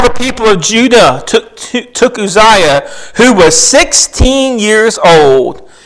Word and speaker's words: Uzziah: I practiced saying that name before I got here because there's several different ways you could say that, but I looked it up phonetically. It's Uzziah.